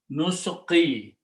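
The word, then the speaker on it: نسقي: When we put a noon in the beginning with a dhamma, in the grammar, alif is not spoken. It becomes nusqi.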